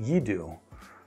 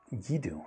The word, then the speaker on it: xDuoo: company is actually pronounced yiDuoo. The X is a Chinese character. I believe you. But I'm probably not going to remember that. yiDuoo, interesting.